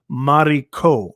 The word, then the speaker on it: Maro: happened okay says my name is pronounced Maro okay the V is the first initial of my last name ah okay Maro okay